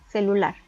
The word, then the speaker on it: celular: Tenemos la palabra celular. Vemos que la sílaba tónica recae en la última sílaba, pero como no termina en N, S o vocal, no se acentúa.